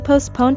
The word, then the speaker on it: postpone: at his workplace usually the T in the word is silent which means we won't pronounce it and we also stress the second syllable postpone you can't postpone